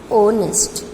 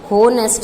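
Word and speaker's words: honest: ओनेस्ट, note होनेस्ट नहीं होता, ये ह से शुरू नहीं होता.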